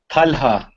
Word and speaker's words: Talha: Talha. Talha. Okay. Evet. Because I live in Portugal, and that would be Talha. Talha. And is it ha, like that H sound?